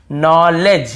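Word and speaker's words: knowledge: नॉलेज, यहाँ पर भी देखिए नॉलेज, यहाँ पर भी डी साइलेंट है, नॉलेज नहीं है, नॉलेज, डी भी साइलेंट है, यहाँ पे के भी साइलेंट है।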